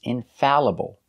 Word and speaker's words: infallible: correct pronunciation is infallible normally all makes the sound all like ball call and fall but there are some words that are pronounced differently they are spelled a-l-l but they are pronounced a like Apple so the sound is Al some examples infallible Challenge